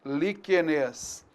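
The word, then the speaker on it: líquenes: Ou então a gente colocando essa vogal e aqui virou agora uma proparoxítona. Liquenes.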